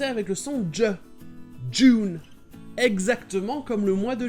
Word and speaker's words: Dune: En anglais américain, tout comme le mot endure, ça se prononce simplement Dune.